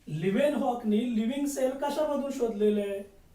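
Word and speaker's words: Leeuwenhoek: मग so living sale was discovered by लिव्हेनहॉक. लिव्हेनहॉक spelling बघा, LEUWNHOEK, लिव्हेनहॉक.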